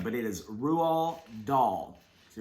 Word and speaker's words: Roald Dahl: I had to look up how to pronounce his name, but it is Roald Dahl.